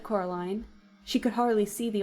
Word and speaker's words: Coraline: They keep saying Coraline, not Caroline. Not Caroline at all."